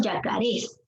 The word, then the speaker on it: yacarés: Dice, la guerra de los yacarés. Yacarés. ¿Te das cuenta de la pronunciación? Yacarés. Aquí está la fuerza de voz. Esta es una palabra aguda, ¿sí?